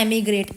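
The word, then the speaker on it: emigrate: देखो अब दो वर्ड होते हैं, एक होता है इमीग्रेट, एक होता है एमिग्रेट। एमी को आप ई से लिखते हो लेकिन प्रोनाउंस करते हो इसको एमिग्रेट।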